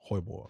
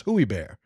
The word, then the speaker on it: Hoybor: Well, if you say it wrong, it's terrible. It's Hooey Bear. I didn't say it like that. I don't think you said it. I'm just saying, like, somebody could say that. Hoybor. It's cool, I think that's how it's said.